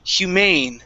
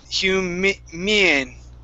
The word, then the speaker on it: humane: This is humane, so the stress is at the end. We're going to use a long A sound, humane. Humane. One more time, humane. Humane. Okay, now, let's try that long A one more time. So you're saying humean, okay? So we're adding more of an E sound, a long E sound at the beginning. Instead of mien, it's A.